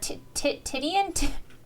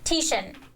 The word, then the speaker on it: Titian: How do you pronounce that word? Tittian.